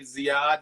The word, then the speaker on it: Ziyad: So for my folk that are tuning in who may or may not know, this is Ziyad. Did I pronounce the last name right?